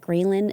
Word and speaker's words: ghrelin: And by the way I remember that ghrelin is the hunger hormone is because it sounds like the word gremlin, and I visualize little gremlins running around my stomach telling me to eat.